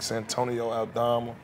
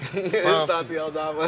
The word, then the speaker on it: Santi Aldama: But, you know, you got guys like Santonio Aldama. Did I say his name right? Santi. Santi Aldama.